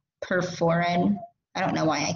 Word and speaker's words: perforin: And that's going to be perforin and granzyme. So I'm going to spell perforin because I feel like I say it wrong. That's it. I feel like I say it with P-E-R-F-E-R, perforin.